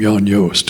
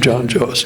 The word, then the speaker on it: Jan Joost: So they pronounce it like people like to pronounce my name, Jan Joost, instead of John Joost.